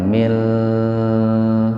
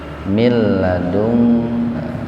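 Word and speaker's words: مِن لَدُنكَ: Jadi membacanya jangan mil, jangan begitu. Kan bila guna tanpa mendengung. Mil ladungka.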